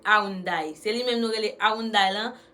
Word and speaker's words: Hyundai: C'est lui-même nous relais Hyundai là, mais en coréen, il pas Hyundai, c'est Hyundai. C'est ça lié en coréen, il pas Hyundai. Nous nous dit Hyundai, mais c'est Hyundai. C'est comme ça qu'il prononce en coréen.